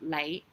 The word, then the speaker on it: 李: But this one definitely is with the L because Li. So Lei and Lei, same sound, same pronunciation. It's a different character, of course. The character for the surname Li is completely different from the character for you, but it's pronounced the same.